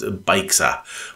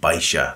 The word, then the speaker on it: Baixa: of centre of town, it looks like it's pronounced Baixa, but in fact you pronounce it Baixa.